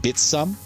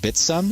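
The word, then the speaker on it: Bithumb: Did you realize that's pronounced Bitsum, even though like with an S? Because it's a Korean exchange, that's how it's pronounced locally. Even though it's spelled in English, locally it's pronounced Bitsum, so that's the technically correct pronunciation.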